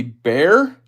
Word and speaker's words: Bexar: It's spelled Bexar, but yes, pronounced Bear.